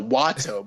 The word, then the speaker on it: Wato: No, Wato, bro, Wato. You mispronounced his name. His name is Master Wato.